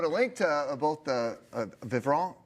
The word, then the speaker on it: Vivront: link to both the vivon did I say it right V you did nice depends if you're French or not uh and J Morton